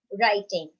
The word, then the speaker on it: writing: 5th is writing. What is silent? W is silent.